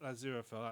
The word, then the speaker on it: Aziraphale: And it follows a angel, because I can never pronounce his name, Aziraphale. Aziraphale, that's it.